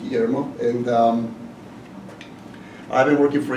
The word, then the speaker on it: Guillermo: The U is silent and double L is Y, so the name's pronounced Guillermo.